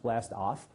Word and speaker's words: BLAST-AHF: Really, it's supposed to be pronounced blast-off.